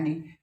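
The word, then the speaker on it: knee: हो, चौक चो ओ साउंड और लै है नहीं, काम यहां बोल सकते हो आप, आ साउंड, काम लै साउंड नहीं।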